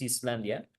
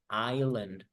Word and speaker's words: island: Cuidado porque Iceland es Islandia, pero también está la palabra isla, que se pronuncia island, island, ¿ya?